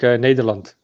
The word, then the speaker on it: Nederland: Nederlands. Because I don't say Netherlands. That's the English way. Netherlands. Neth. We as Dutch say it like Nederland. Nederland.